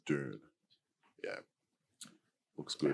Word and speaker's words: Dune: June. If you're in Australia, you'd probably say June. Yeah, like a June wedding. Exactly, Billy Idol. But for those of you who pronounce it worldwide, it's probably pronounced Dune.